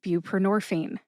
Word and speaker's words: buprenorphine: Next up is buprenorphine. Buprenorphine has four syllables. B like beautiful, pr like pretend, nor like norway, and fi which rhymes with teen. Put all four syllables together and you get buprenorphine.